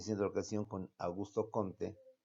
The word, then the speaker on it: Comte: la educación con Augusto Comte, o Augusto Comte, que al salir me dijo, no es Comte, maestro, es Com.